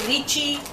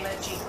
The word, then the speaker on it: lychee: You can pronounce it lychee, lychee. I say lychee.